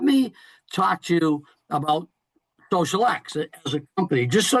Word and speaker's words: xosialx: Remember, you saw it's spelled a little funky, but it's pronounced Social X.